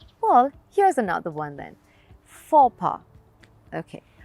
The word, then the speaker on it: faux pas: here's another one then fopa okay i know that the spelling means completely different and it looks like the pronunciation could be completely something else but the pronunciation is really very simple for pa well repeat after me